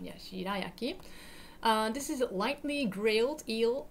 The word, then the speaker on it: shirayaki: This is called shirayaki. Yeah, shirayaki. Yeah, Japanese pronunciation. Yeah, shirayaki.